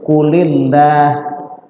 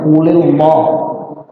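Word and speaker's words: قُلْ لِلَّهِ: Begitu ada orang baru baca baca Quran bacanya qulillah. qulillah gitu kan. Jadi Allahnya tetap dibaca tebal. Qulillah betul apa salah? Salah. Salah. Qulillah dibaca tipis karena ketemu kasrah tuh.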